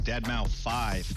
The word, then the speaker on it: Deadmau5: This is your good friend Joel, professionally known as Deadmau5. Yes, that is the correct way to pronounce it.